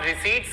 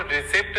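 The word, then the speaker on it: receipt: देखिए, यहाँ पे जो P होता है वो साइलेंट होता है, इसीलिए हमको रिसिप्ट नहीं बोलते हैं, हम इसको रिसीट बोलते हैं।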